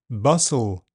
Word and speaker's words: bustle: T is silent in words ending TLE, castle, bustle, thistle.